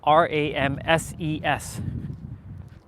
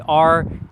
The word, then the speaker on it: Ramses: And when it's Ramses, it's spelled Ramses. It's not gonna be Ramseys. No, it's Ramses.